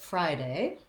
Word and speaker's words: Friday: we look at friday we have the diphthong i in friday and it sounds just like the word fry and that's where our stress is so we're long on fry and then we're shorter on day but day also has a diphthong so you want to make sure that you're not shortening that a diphthong to just a but rather you're closing and relaxing friday a um friday